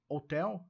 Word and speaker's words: Hotel: Ok Golf H Lima na pronúncia do do código Hotel a gente presta atenção ou não é hotel ou ou e a tônica em t Ok Lima Lima tran